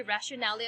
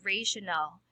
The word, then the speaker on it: rationale: r you heard it from other teachers maybe rationality of the study before i used to call it rationality of the study that's for r but the correct pronunciation of that is rational rational of the study so here it is